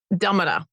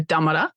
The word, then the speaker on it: Tamarra: We're here to talk about Tamarra, a story of termites on Gurindji country. Did I say that right? So Tamarra is the way to say it. My understanding is, like a d. So Tamarra, Gurindji country.